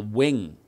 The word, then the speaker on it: Ving: in his ear that v is the w sound so he spelled it v-i-n-g now i've later heard